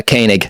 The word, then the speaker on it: Koenig: Andrew I'm going to probably butcher your name kig did I say it right it's a kanig kanig okay I I've I'm not I'm terrible